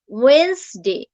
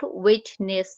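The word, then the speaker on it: Wednesday: যে তারপর হচ্ছে ওয়েডনেসডে, এখানে আমার ওয়েডনেসডে এর ক্ষেত্রে ওয়েন্সডে, নট ওয়েটনেস, ওয়েটনেস হবে না, Weil's, WENZ, ওয়েন্সডে, ওয়েন্সডে, ওয়েন্সডে।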